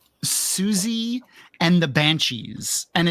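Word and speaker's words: Siouxsie: underground uh band called Suzy and the Banshees. And it's spelled Suzy like the Sue Indians.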